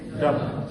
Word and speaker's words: dup: sharp and high pitch how इ will pronounce डप जैसे बोलेंगे डप जल्दी से आया शॉर्ट समय में तेजी से आया और हाई पिच आया डप तो short sharp and high pitch रिजल्स the English word डब उसके बाद आया कि